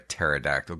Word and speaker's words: pterodactyl: Why can't you hear a pterodactyl go to the bathroom? I don't know, Jay. Why can't I hear a pterodactyl go to the bathroom? Because the P is silent.